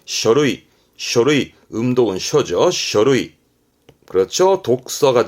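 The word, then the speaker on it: 書類: 발음은 쇼루이.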